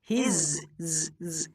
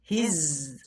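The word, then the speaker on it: his: আমাদেরকে বর্গীয় জ এবং ঝয়ের মাঝামাঝি সাউন্ড করতে হবে, যেটা জেড এর সাউন্ড তোমাদেরকে শিখিয়েছিলাম প্রথম ক্লাসে। তো এখানে আমাদেরকে উচ্চারণ করতে হবে হিজ, এর অর্থ হচ্ছে তার।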